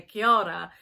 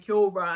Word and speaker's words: kia ora: with your tongue to help you roll your R, so that when you come to say kia ora, you're not saying kia ora and annoying all the Māori people.